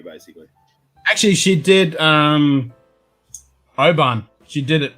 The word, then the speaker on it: Oban: Because you're not really supposed to pronounce the W, basically. Actually, she did Oban. She did it right. She did Oban.